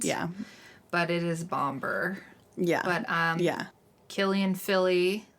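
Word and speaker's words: Bombur: think in the movie, it almost sounds like they sang Bomba. Oh, which, but it's spelled Bomber. So. Yeah. And it also, like, their accent probably doesn't give it that hard R at the end.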